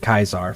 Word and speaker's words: Caesar: And they're running into a group called Kaisar's Legion, which is spelled Caesar's Legion, but they pronounce it Kaisar for some reason.